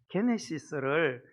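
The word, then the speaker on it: γένεσις: 헬라어의 게네시스를 영어가 제네시스, G를 G로 발음해서 제네시스.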